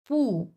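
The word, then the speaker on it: 不: আমি এখানে বোঝাইছি যে পু এটা যখন আপনি সিঙ্গেল ভাবে উচ্চারণ করবেন এটা অরজিনালি চার নাম্বার টন পু পু প্রত্যেকটা ক্যারেক্টারের তো একটা করে টোন আছে।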